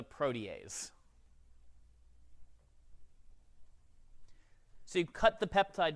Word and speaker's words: protease: Please do not call it a protease. It's spelled that way, I know. It's a protease.